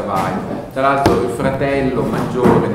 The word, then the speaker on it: Weil: è anche ambigua, perché dal punto di vista della pronuncia tedesca, e questo è un cognome di origine ebraica tedesca, si dovrebbe pronunciare Weil, e I si pronuncia Weil.